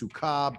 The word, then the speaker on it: Sukkah: It's pronounced Sukkah, but it could be viewed in a particular light, not for now.